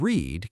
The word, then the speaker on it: read: Sure, the word read can be pronounced two ways. Present tense rhymes with bed, past tense rhymes with red.